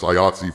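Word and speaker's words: IATSE: there is an iats e strike which is pronounced iot for those who are wondering presumably indy 5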